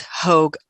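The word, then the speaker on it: Hoagg: with an e and then it but it's hogue yeah h-o-a-g-g yeah one person asks was there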